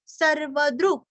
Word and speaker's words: सर्वदृग्: सर्वदृग सर्वदृग दृश्य का द्रु और आधा ग सर्वदृग सर्वदृग व्यासो दिविस्पृक् सर्वदृग व्यासो।